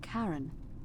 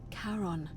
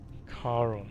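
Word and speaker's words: Charon: it's just as you described it only your pronunciation is a little off the name you heard wasn't Karen it was c h a r o n as in Caron the ferryman of the Dead karon karon who in exchange for the right coin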